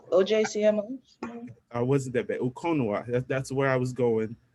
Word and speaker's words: Ukonwa: How would I pronounce this? Her her name. I mean, I will go with Ukonwa, OJCMO. I wasn't that bad. Okonwa.